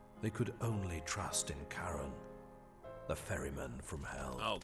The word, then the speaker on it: Charon: could only trust in Karen the Fairman from hell oh Karen so we've had our our official pronunciation it is indeed Karen she's going to call